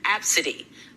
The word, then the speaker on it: Abcde: daughter well her daughter's name is spelled a b c d e and pronounced absidy this story tell me